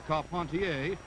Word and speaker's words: Carpentier: jack dempsey advancing on george carpentier or carpontier if you prefer the french pronunciation this was the first